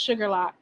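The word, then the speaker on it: Shuqualak: Oh, it's it's pronounced Sugarlock.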